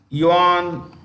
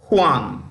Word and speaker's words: Juan: it's director General is yawn Carlos Gomez you simply write you on Gomez he belongs to Colombia you want Gomez Juan that's how they pronounce Juan Juan Gomez belongs to